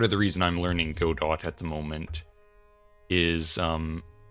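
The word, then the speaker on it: Godot: I don't care if it's pronounced Godo, it's Go dot. I I pronounce things phonetically and if it and if it was meant to be spelled any other way it would be. It's if God is French then I am pronouncing it wrong on purpose.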